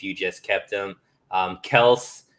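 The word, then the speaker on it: Kelce: just kept him um kels um as he likes to pronounce it is uh the guy you gotta trade you can't cut you can't cut travis kelsey man you gotta trade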